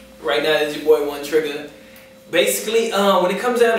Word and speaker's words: Trigga: Is it Trigger or Trigga? Trigga.